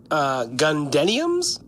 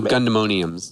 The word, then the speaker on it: Gundemoniums: Gundeniums? No, Gundemoniums. Gundemoniums? Oh, thank you. Like Pandemonium?